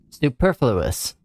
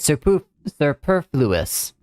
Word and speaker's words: superfluous: Superfluous. That's how you say it. Superfluous.